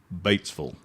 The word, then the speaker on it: Batesville: Let me help you with your pronunciation. Batesville. Batesville. Batesville.